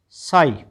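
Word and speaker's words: sigh: इसका मीन इसका उच्चारण क्या हो गया? फिर हाई एस आई जी एच साई टी एच आई जी H Thai.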